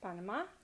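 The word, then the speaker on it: Panamá: We have Peru, Panama, has accent on the A, last A, Panama.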